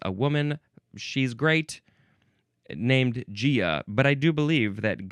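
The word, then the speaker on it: Gaea: We have Gia. Now, maybe some people want to say Gia or Gaia, but it is officially pronounced Gia, spelled with a capital G-A-E-A.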